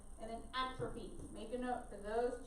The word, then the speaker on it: atrophy: I know it looks like atrophy. So atrophy is how we say it though.